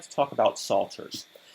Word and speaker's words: psalters: like to talk about salters that's spelled p s a l t e not s-a-l-t we're not talking about